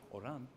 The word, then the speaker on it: Oran: properly pronounced, it would be Oran, and